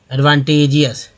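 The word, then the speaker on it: advantageous: हो गया, तो क्योंकि ए के बाद ई है, अजी से ज बोलते हैं, एडवांटेजियस।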